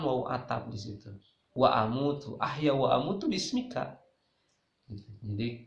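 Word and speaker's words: أموت: Ya, cuma jangan salah baca, jangan begini bismika Allahumma ahya wa bismika amut, itu salah. Harusnya A-nya pendek, sama dengan ahya. Bismikallahumma ahya wa amut. Yang panjangnya mut.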